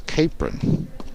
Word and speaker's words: Capron: just been advised i've correct pronunciation for chloe's last name is capron capron so my apologies to